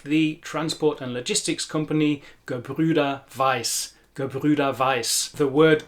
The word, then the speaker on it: Gebrüder: The word Gebrüder in the word Gebrüder Weiss is a great word for teaching the Ü sound. It's a very difficult sound for English speakers as we don't have it in English.